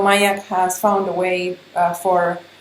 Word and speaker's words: Myak: It's called Myak, and you spell that M-Y-A-K.